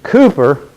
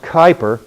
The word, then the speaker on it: Kuiper: pluto and it was cooper actually properly pronounced kuiper in the dutch pronunciation this keiper who predicted